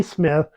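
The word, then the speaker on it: Psmith: quite the same as rert silent P Smith that appears in the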